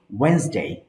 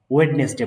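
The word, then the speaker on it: Wednesday: যেরকম ওয়েন্সডে, আমরা বলি ইংরেজি যে বুধবার, ওয়েডনেসডে বলি, এটা ভুল উচ্চারণ। সঠিক উচ্চারণ হচ্ছে ওয়েন্সডে। হ্যাঁ, ওয়েন্সডে।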